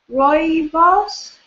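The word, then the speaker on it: rooibos: call the red tea it's spelled r o o i b I think it's pronounced uh Roy boss did I say right I have no idea anyway this was the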